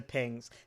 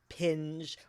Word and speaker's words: PNG: I just read the introduction to pings. Ping is spelled PNG or Portable Networks Graphic and always pronounced ping in English, not pinge or PNG or any other multisyllabic disaster.